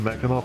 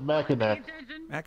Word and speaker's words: Mackinac: There isn't, but people pronounce it Mackinac. Instead of Mackinac.